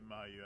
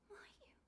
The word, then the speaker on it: Mayu: Let's get Mayu out of here.